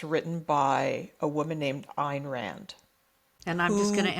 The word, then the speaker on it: Ayn Rand: And he discovered a series of books written by a woman named Ayn Rand. And I'm just going to interrupt to tell the audience PJ pronounces it Ayn Rand, which is the way that it should be